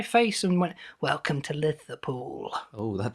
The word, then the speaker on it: Liverpool: they're gonna Liverpool it you're pronouncing liver with like a th instead of a V yeah Oh sounds really